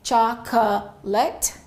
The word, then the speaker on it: chocolate: English works differently. Sometimes there are some words where the vowel completely disappears. So in English this word has only two syllables. So we don't say chocolate.